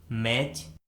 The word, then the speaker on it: match: Rule number 1 में हम सीखेंगे कि यदि किसी वर्ड में टी के बाद सी एच आता है तो उस वर्ड में टी कम्प्लीटली साइलेंट होता है, यानी टी का किसी प्रकार से कोई भी उच्चारण नहीं किया जाता है।